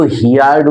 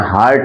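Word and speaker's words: heard: অ্যান্ড এবং হার্ড stories, এটা কিন্তু কেউ হিয়ার্ড উচ্চারণ করবে না, হার্ড করবে, এবং হার্ড স্টোরিজ, এবং কি শুনেছিল?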